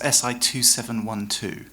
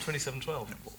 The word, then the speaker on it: SI2712: actually pronounced SI2712. Not 2712.